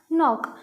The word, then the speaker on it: knock: नॉक, ये नॉक लिखा हुआ है, लिखा हुआ के है पर जो इसका प्रोनाउंसिएशन है वो नॉक कर रहे हैं. तो यहाँ कहीं ना कहीं के क्या हो जाता है? साइलेंट.